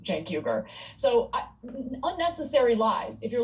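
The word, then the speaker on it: Cenk Uygur: It's not Shank Weaguer or whatever it is that he said. His opening line is literally, "Welcome to the Young Turks. I'm your host Jank Huger."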